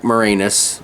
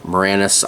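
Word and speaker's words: Moranis: Rick Morenus. Morannis. I did it again. I said I in my head I was like, I'm going to say his name right. And I say Morenus.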